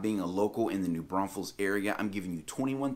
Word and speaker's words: New Braunfels: number 21 is that there is only one s in new braunfels now i know it's not exactly the easiest thing to pronounce especially if you're not used to saying it but you're going to get the side eye real quick from the locals around here if you start throwing another s in there you come through here talking about new bronze fools and folks around here